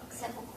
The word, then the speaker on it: sepulcher: Sepulcher.